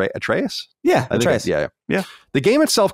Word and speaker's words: Atreus: atreus that's how you say his name right atreus yeah yeah the game itself cost 60 on